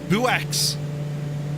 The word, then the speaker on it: Buochs: When you're flying around my place, the place is pronounced, Buochs. Buochs, not Buochs, Buochs.